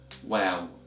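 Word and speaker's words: واو: next letter so yes the 27th letter of Arabic is pronounced as wow wow repeat after me well well so the sound of the letter well is equivalent to the sound of the letter W English and can be also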